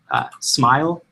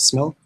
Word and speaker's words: SMIL: flavor and animation style this is a smile I think it's out to pronounce but I call it smell because there's no e it's synchronized multimedia integration